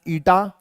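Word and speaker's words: η: of viscosity this is this is pronounced as ITA and it is the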